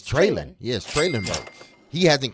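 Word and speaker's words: Treylon: Burke's name wrong traylon they will call him treyland Birds which is what you're saying is wrong which I believe it it's trailing Yes trailer mode he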